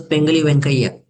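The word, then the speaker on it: Pingali Venkaiah: It was Pengali Venkaiah. That's the way that you pronounce the name.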